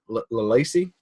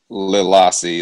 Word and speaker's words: Lilassi: How do you say that main character's name? Lalacy? Lilassi, that's her name. Lilassi. Okay. Lilassi, yep.